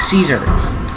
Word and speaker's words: Caesar: his name no seriously if someone hates him they pronounce it like they pronounce his name like caesar but if someone likes them they pronounce it like kai's arms all right is